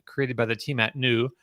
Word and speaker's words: NXU: by the team at NU. That's spelled NXU and it's pronounced NU.